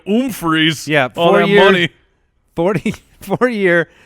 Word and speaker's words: Humphries: so Adam Humphries Oh how would one pronounce that still with a num freeze it's more like an own freeze yep all morning 44